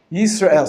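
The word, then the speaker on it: ישראל: Your name, Israel, has a Shava Nach in it. The example is Yis. That's the first syllable. Ra'el is the second syllable. Yisrael. So underneath the S here, there's no vowelization whatsoever. You don't say Yisrael. You say Yisrael. It's a stop.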